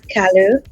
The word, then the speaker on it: Kalu: Kalu.